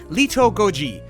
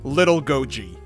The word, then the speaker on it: Little Godzi: with pronouncing Japanese but a more correct way to say his name would be Leto Goji but for this video please forgive me when I just call him little Goji little Goji lives amongst